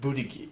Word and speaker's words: Buttigieg: It's pronounced Buttigieg. Like Boogieg.